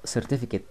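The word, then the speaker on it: certificate: قبل كده بمعنى شهاده سيرتيفيكيت هي بتنطق سيرتيفيكيت يعني الاي دي ما بشدها ماقولش سيرتيفيكيت رقم واحد ممكن اقول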